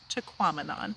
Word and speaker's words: Tahquamenon: right exactly so it it rhymes with phenomenon so if you think of phenomenon to quamanon that's right and my